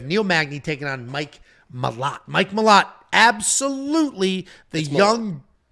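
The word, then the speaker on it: Malott: Magny taking on Mike mot Mike mot absolutely the young good-looking what it's Mike Malo I'm not I'm not doing the Canadian pronunciations we got [ __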